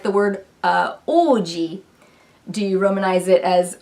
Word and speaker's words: Oji: literally, like taking the Oji example, if I Romanize that as like O-U-J-I, people that don't really know Japanese, when they see that, they're gonna pronounce it Uji, which is incorrect.